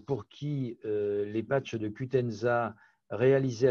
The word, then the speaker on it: Qutenza: Et du coup, y a-t-il un nombre maximum d'applications du patch, j'ai peut-être mal le prononcer, Qutenza?